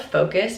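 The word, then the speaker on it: Foqos: It's called Focus, but it's spelled weird, F-O-Q-O-S.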